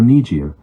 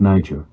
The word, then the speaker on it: Niger: the The Gambia Congo or nijir instead of Niger in fact by using the French pronunciation instead of an African one they are also acknowledging